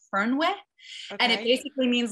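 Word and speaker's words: Fernweh: gonna say it right i know how to spell it it's spelled f-e-r-n-w-e-e-h and i think it said fern with and it basically means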